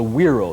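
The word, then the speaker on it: güiro: Latin America comes an instrument that's called a weiro that's spelled with a G gu u i r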